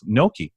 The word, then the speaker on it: gnocchi: Gnocchi. I was not really a gnocchi eater till I did a Blindsided piece.